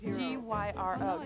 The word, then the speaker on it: gyro: A gyro. All right, it's a gyro. It's the new beef gyro from Jack in the Box. G-Y-R-O.